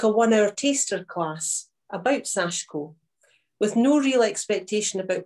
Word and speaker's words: Sashiko: like to have a go so next slide sashko i'm saying sashko because a lot of people pronounce it sashiko but the eye is actually barely pronounced is